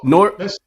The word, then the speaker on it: Newark: Oh, no, so it's like no, Newark? So it's just one syllable.